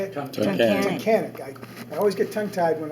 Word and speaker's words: Tunkhannock: Met him in, I always have trouble pronouncing it because around our way it's always called Taconic, and it's not. How do you say it? Tunkhannock.